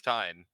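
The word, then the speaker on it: Tine: them time Thai fine is that how you pronounce it it's time t-i-n-e time so weird that's Gaelic as uh as you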